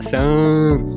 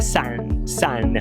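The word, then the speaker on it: sun: Então, por exemplo, sol, o brasileiro fala san, mas na verdade a pronúncia é san.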